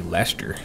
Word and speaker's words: Leicester: But good God, who would expect that would be Leicester? Oh, wow. So that is why I butcher these English names here, because it's you know,